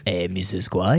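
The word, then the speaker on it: Missisquoi: I will teach you how to pronounce Mrs. Gua. Mrs. Gua is how you say the name of this river.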